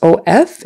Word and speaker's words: of: Even though it's O-F, it's pronounced like short U, the, of, kind of.